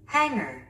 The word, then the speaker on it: hanger: Hanger. Hanger. 우리 한국인은 이 단어를 행거라고 합니다. 그런데 원어민들은요, 스트레스가 맨 앞에 스트레스를 주면서 hanger, hanger, hanger, 어라고 발음합니다.